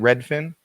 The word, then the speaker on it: Redfin: Redfin? Yep. Yeah, it's kind of like one fish, two fish, red fish, blue fish, except it's Redfin. Yep.